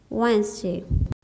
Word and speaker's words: Wednesday: The next one is Wednesday. W has a sound, W. E has a sound, A. D has a sound, D.